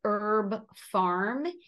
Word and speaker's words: HerbPharm: In the States, it's called Herb Farm, HERBPHARM. And they do now give monthly workshops.